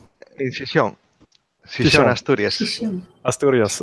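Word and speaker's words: Gijón: So maybe So I wasn't exactly sure how it's pronounced, but so the conference, so UbuCon Europe 2018 is going to be in Chichon? Chichón. In Chichón.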